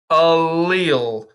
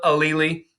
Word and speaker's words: allele: the day is allele allele that's how you say this word it's not a lili not allele a leo only two syllables a rhyme is with jaleel if you know anybody